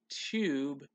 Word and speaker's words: tube: Tube has that U sound. Then we'll spell it T-T-T-U. B, and make sure that silent E goes at the end to make tube, tube.